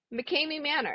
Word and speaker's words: McKamey Manor: McKamey McKamey Manor.